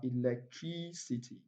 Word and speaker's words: electricity: If you look at this word, it ends with ity. Yes, words that ends with ity takes their primary stress on the antepenultimate syllable. Okay, that is two syllables to the last. Two syllables to the last syllable. So let's count. One, two, three. Okay, so we have electricity.